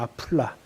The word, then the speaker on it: 아플라: 쉽게 말씀드렸는데 아플라. 아플라. 정확히 말 그 발음대로 하면 아플라입니다. 아플라.